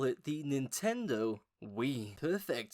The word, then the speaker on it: Wii: Let's pronounce it like we, as in together, as in the whole family.